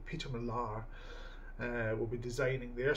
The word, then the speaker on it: Peter Millar: so hopefully I think it's Peter Millar that's how they pronounce it allegedly Peter Millar uh will be designing